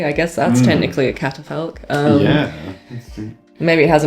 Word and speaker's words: catafalque: remembered what it was, but it is a catafalque, which Catafalque.